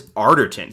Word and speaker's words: Arterton: he's great and Gemma oh it's Arterton so I've been saying her name wrong forever might be Gemma